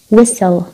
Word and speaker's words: whistle: نكمل تي، التي بتكون سايلنت such مثل words listen whistle.